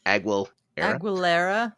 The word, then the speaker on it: Aguilera: Aguilera.